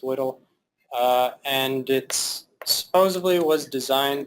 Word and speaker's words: WDL: One such description language is called WDL, WDL, pronounced WDL, and it supposedly was designed to be human readable.